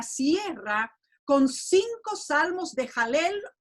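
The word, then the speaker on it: הלל: Una de esas palabras es la palabra jalel. Se escribe HL l y esa palabra combinada con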